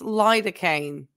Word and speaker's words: lidocaine: It's pronounced lidocaine. Lido. Okay, not ladder.